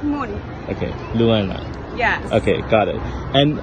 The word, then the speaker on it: Luana: Wait, do I pronounce that right? Luana. Right. It's like moon. Okay, Luana.